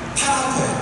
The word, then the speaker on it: 타나크: 자, 유다교는 성경을 일단 명칭을 붙일 때 우리가 말하는 성경 이 말에 해당하는 말이 타나크예요. 타나크. 또 히브리어는 오른쪽에서 왼쪽으로 읽어요. 그렇게 읽으면 그게 발음을 할 때 타나크가 돼요.